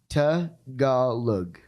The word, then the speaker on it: Tagalog: Say the name of the language correctly, because I just mispronounced it. Tagalog. Okay. Yeah. So like with just really quick with Tagalog, like you just say the vowels are the most important things.